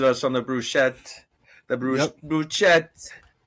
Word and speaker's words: bruschetta: Bruschetta. It's pronounced bruschetta, but it's okay.